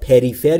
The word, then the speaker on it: prefer: دوستان تلفظ prefer رو دقت بکنید. Prefer یا prefer یا هر چیز دیگه ای نیست. بین P و R صدای شما مشاهده نمی کنید. پس تلفظش میشه prefer, prefer, prefer.